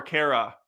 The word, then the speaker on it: Kara: Kara. Is it Kara or Kara? It's Kara. It's Kara Zor-El.